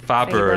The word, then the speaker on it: Färber: about uh joanna um faber faber that's the pronunciation thank you uh the the